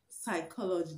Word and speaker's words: psychology: silent is not pronounced another word is psychology psychology the p in psychology as you know is not pronounced pneumonia pneumonia the p